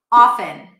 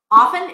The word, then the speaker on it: often: Often. Often is another word that technically should not have a T, but a lot of people pronounce it with a T.